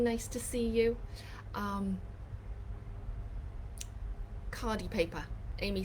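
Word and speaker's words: khadi: cheryl thanks gene nice to see you um cardi paper amy says um do a google search it's spelt k-h-a-d-i you can get it from talus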